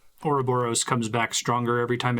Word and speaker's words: Ouroboros: I know that, I think in Greek that's supposed to be Ouroboros, but they pronounce it Ouroboros in Bravely Default, and it just sounds so much more threatening.